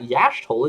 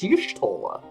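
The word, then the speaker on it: Y'shtola: It's not Yashtola, it's Yushtola. What the...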